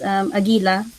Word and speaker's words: Agila: For instance, in the film Ang Agila at Ang Araw in the Philippines, that would be pronounced Agila.